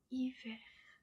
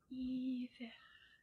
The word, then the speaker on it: hiver: We say hiver. Hiver. Hiver. Hiver. And you will notice that in the word hiver, we do not pronounce the H, it's a silent H.